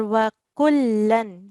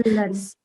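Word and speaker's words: وكلاً: Just one thing I noticed here that wakullan, you pronounce it wakulla. Am I right? I'm sorry. Yeah. That's Maybe. okay. Okay, that's okay. Wakullan. Yeah, so wakullan, we will be doing a slight nasal sound here because the next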